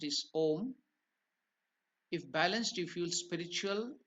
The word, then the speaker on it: om: the Mantra is om it is not much pronounced it is om if balanced you feel spiritual blessed Unity wisdom